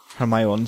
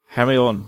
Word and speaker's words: Hermione: I went, Hermione, right? No, Hermione. You pronounced it like Victor Crumb does in book 4.